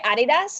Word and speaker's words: Adidas: it's well i mean do you say adidas like the germans because that's the best way to do it yeah yeah oh yeah